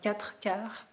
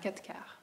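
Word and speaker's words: quatre-quarts: you have capture Katka you don't pronounce the R it's not a kataka you can of course but usually we say cat cow cat cow so where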